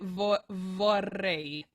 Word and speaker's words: vorrei: Oh, your V's can vibrate a little bit more. You're kind of glazing over your V's like we do in English. But this ain't English, honey.